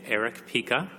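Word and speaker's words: Erich Pica: On my left is Eric Pica, who is the Executive Director of Friends of the Earth in the United States. His name is spelled E-R-I-C-H-P-I-C-A, Eric Pica.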